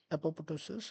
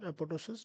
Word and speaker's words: apoptosis: So now we're going to see about epoptosis or epotosis better pronounced.